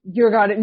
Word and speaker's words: Djurgården: I'm not going to try and pronounce it. Djurgården? Djurgården.